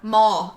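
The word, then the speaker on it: Maw: it out phonetically oh mall m-a-w mall m-a-w yeah not not like the place the teenagers used to go back whenever they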